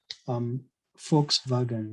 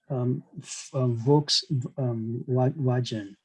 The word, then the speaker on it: Volkswagen: Of course, most English speakers, just like myself before I learned German, I used to pronounce VW as Volkswagen. That's the way I used to pronounce it. But the actual pronunciation is Volkswagen. So that's how it is pronounced.